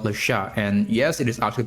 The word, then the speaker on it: Le Chat: own AI tool called Lasha. And yes, it is actually pronounced Lasha, not like Chad because it is a French company.